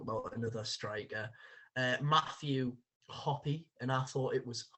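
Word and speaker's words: Hoppe: firstly we'll talk about another striker uh matthew hoppy and i thought it was hope but i believe that actually is pronounced matthew hoppy um an american international currently at majorca uh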